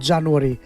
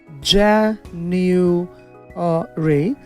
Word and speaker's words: January: January, January, January, not January, January, যাতে জোর হবে January।